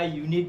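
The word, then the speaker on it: unit: जैसे मैंने बताया कि बहुत सारे वर्ड्स ऐसे हैं जो वॉवेल्स लेटर से स्टार्ट होते हैं, जैसे यूरोपियन देखा, यूनिट देखा, यूनिवर्सल देखा, बट उसका जो साउंड है वो कैसा होता है, कॉन्सोनेंट होता है।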